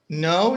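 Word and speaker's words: know: بس سمبل لينو كيف النطق متاع new no new يعني نطقها زي كلمة جديد نفس النطق بالضبط.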